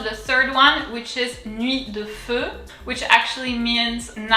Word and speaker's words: Nuit: UI in French is oui, nuit, the T is silent, so let's go ahead. Nuit, nuit.